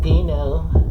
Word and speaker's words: Dino: Another thing people don't know about Dino is that his name is pronounced Dino!